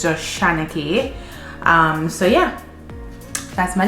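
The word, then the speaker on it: Shana-Kay: how to pronounce like a lot of people say shauna k um but it is spelled s-h-a-n-a hyphen k-a-y it's actually shana k some people say shanna but a lot of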